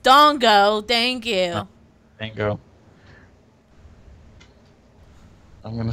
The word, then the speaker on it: Dango: eggs that's me Dango dango's a candy it's japanese's see see the quietness that's how you know right what and it's it's pronounced Dongo thank you Dango I'm